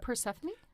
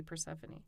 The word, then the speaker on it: Persephone: Not much, but uh yeah, that's the E is you pronounce the E at the end. So, Panie is the Greek goddess of sunshine.